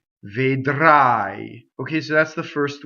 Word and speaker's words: vedrai: The R is rolled, vedrai, and the reason for that is that it touches a consonant. So any R that touches a consonant or a spinal in Italian is rolled.